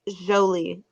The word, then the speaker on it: Jolie: Oh, I believe it's Jolie. See, that's right. That's that French stuff there, folks.